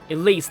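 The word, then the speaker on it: Ylisse: Elise, yeah, that's how it's pronounced.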